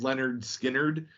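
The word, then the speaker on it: Lynyrd Skynyrd: tunes so i was like their first album pronounced leonard skinnered yeah um it's a good one would be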